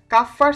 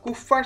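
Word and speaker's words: Kupffer: ভর্তি পরীক্ষা 2016 সালে কাফফার সেল বা কুফফার সেল হচ্ছে কোথায় থাকে উচ্চারণটা ডিপেন্ড করে হচ্ছে কে কিভাবে উচ্চারণ করছে সেটার উপরে আমরা কাফফার সেলই হচ্ছে উচ্চারণ করব তো কাফার সেলটা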